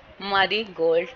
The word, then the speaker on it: marigold: Intellect, marigold, ठीक है, इन पे होगा, मारी पे होगा एंड अल पे होगा रिस्पेक्टिवली।